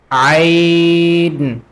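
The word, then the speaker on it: ع: So the Ain we pronounce from middle part of the throat. So we say Ain.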